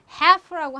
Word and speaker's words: half: 그래서 half라고 하면 절반이란 뜻이에요. self 아니에요. half예요. 자, 그리고 여기서 L은 묵음. 그래서 발음이 안 돼요. 그래서 half.